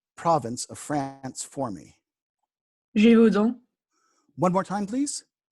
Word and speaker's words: Gévaudan: Okay, please pronounce that province of France for me. Gévaudan. One more time, please. Gévaudan.